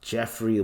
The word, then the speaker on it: Geoffrey: I was like, "Oh, why is his name spelled like that?" Jeffrey with a Geo.